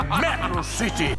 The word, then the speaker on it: Metro City: A pronúncia é Metro City!